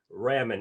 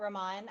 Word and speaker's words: Rahman: to talk about ramen is that did i pronounce your last name correct or is it ramen uh i i pronounce it rahman i think you're supposed to say rahman how are you i'm